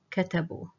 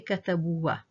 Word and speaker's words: كتبوا: This alif here is silent and will be considered from the last group of silent letters. Katabu, katabu. So we don't say katabuwa, katabu only. The alif is silent.